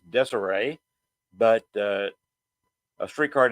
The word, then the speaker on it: Desire: dces or even a street card name actual pronunciation desay but uh a street